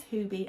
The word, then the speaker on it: Huby: to pronounce this, and lots of people said it is Huby, and it's because it's a place near Lisa from Sew Over It.